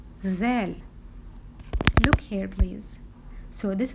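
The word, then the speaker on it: ذ: sister little Above It One Dot we do pronounce it zel zel look here please so this is litter Dell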